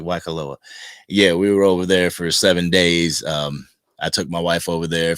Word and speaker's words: Waikoloa: Yes, did I pronounce that correctly? Waikoloa.